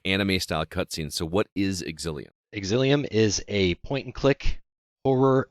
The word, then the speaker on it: Exilium: This game is pronounced Exilium.